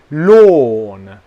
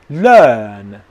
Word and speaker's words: lawn: The correct is this. Lawn, lawn, lawn, lawn, lawn. Okay, I'm going to the N sound when my lips are still in this position. Lawn. The other word, learn, learn, learn. Do not do this. Lawn, lawn, lawn. Okay, that's wrong.